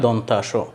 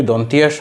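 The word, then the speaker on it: দন্ত্য: এরপর এটা দন্থা ন আর এটা দন্তাস। এই দুইটা উচ্চারণ করতে দাঁতের যে সাহায্য নিতে হয়, সেই জন্য এটা দন্ত, দন্তান এবং দন্তাস। তাহলে দন্তিয়া স, দন্তিয়া ন এরকম হবে না।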